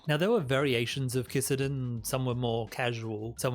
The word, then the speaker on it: kissaten: Rolling up to the 1900s, you would start seeing shops called kisaten springing all up over Japan. Is it actually, how's that pronounced? Kisaten.